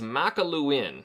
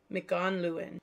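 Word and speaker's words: Mac an Luin: I found it. You found it? McConluin. There's no N there.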